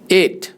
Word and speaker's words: ate: इसको कैसे प्रोनाउंस करते हैं, जैसे नंबर 8 होता है, एट लगा।